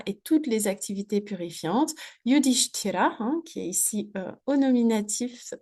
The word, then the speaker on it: Yudhishthira: Donc, petit point sur la prononciation. Hein, c'est Yudhishthira. Hein, donc, on a un ch, donc avec la langue qui remonte derrière le palais, ch, suivi d'un ch.